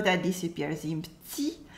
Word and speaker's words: petit: We have the E that disappears in petit. We have the un sound as well in train, and the T in petit is silent.